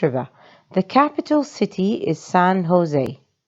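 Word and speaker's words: San José: must be san jose notice how it is written but read it in a different way so it's not san jose that's wrong san jose this is probably the the closest in pronunciation this is not an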